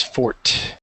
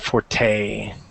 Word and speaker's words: forte: okay so again you just pronounce it as Fort instead of forte all right just fort